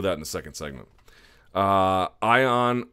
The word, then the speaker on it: Ion: Ion, or I've had it pronounced to me as Eon, and Iwan Cutelaba defeating Henrique de Silva at 22 seconds into the first round.